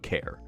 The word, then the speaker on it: char: After trying to build the project, uncovering some oopsies, and fixing them, I created a function called beput care or char depending on how you feel like pronouncing it.